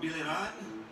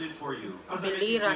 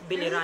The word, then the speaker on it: Biliran: our first finalist from Biliran. Hello, Skelly, how are you? It... Hello, Casey, I feel great today. Do you feel great? You pronounce it incorrectly. That's Biliran, that's Biliran.